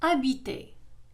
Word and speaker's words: habiter: إذا la lettre H في الفرنسية لا تنطق. Exemple. Habiter.